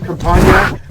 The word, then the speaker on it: Campagna: is spelled out there so it's compa is like lasagna right I am an Italiano and so uh.